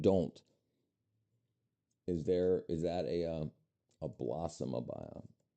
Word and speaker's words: abaya: Is that a blossom abaya? Am I saying it right? Abaya? Abaya. Yeah, looks like I'm right.